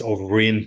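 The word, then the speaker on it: Ó Broin: it differently but it's overin so it sounds like a V but it's a b it's kind of silent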